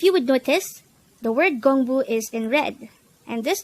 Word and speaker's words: 공부: This is pronounced as a two-syllable word. The first syllable is gong, the second syllable is bu. Pronounce it with me. Gongbu. Gongbu. The word Gongbu is simply the Korean noun for study or studies.